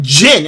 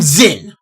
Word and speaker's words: Zin: like everyone's calling him Jyn. And I'm like his name is not Jyn. There is a Z there. How'd you get Jyn from Zin?